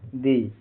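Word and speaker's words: they: टी एच ई वाई का उच्चारण pronunciation दे यहां टी एच का उच्चारण जीभ को हल्का दांतों के बीच में रखकर किया जाता है। य का उच्चारण ए लंबी ए होता है।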